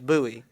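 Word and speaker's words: Bui: my last name is Bowie. Yeah, it's easy. B-U-I.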